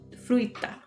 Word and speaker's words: fruita: a woman drinks water Fruita fruta a man eats fruit a and it's it kind of goes the same way as agua this throw in that extra eye and it's agua Spanish